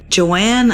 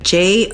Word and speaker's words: Johann: So this was founded by Joanne Lemp. I'm not even saying that right. Johann. Would be that Joanne? Johann? I would pronounce it more like a Johann because Johann. It's probably German or something.